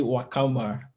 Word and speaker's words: Nwakama: It's called Nwakama. The N is silent.